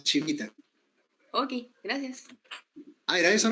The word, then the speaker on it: Civita: Se escribe Civita, pero se pronuncia Chivita.